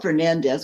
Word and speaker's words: Fernandez: from these islands, and they pronounce it Fernand Portuguese. Portuguese has kind of a lazier way of pronouncing a lot of names that we know more from the Spanish.